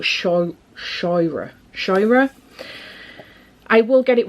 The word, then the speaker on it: Scheuer: Scheuer, but it's like, she says it's Toira, I think it is, but Shoira.